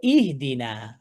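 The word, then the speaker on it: اهدنا: তাহলে এখানে দেখতে পাচ্ছি দাল কাসরদি কাসরটি কাসরটি হামজাতুল ওসলের ওসলে দিয়ে উচ্চারণ করব। ইহদিনা ঠিক আছে গেল।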